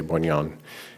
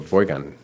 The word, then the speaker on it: Boygan: I'm going to say Boignon, and I'm going to be wrong, I'm sure. Boygan, there's no N.